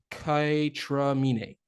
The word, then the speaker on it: KAYTRAMINÉ: But all right, after this commercial break, we will be talking about Kaytranada and Aminé's Kaytramine. I pronounced it right.